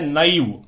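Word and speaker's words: नैव: और शब्द क्या है, नेव नहीं है, यह है नईव। क्योंकि किस संधि का उदाहरण है, वृद्धि का। आप उच्चारण सही कर रहे हैं तो वृद्धि संधि अपने आप ही आपके समझ में आ जाएगी। आप इसको नेव बोलोगे तो आप तो ये भी सोच लोगे गुण संधि है।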